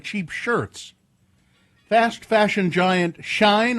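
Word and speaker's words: Shein: Fast fashion giant Shine, I think is how you say it. Sh I Is it Sheen?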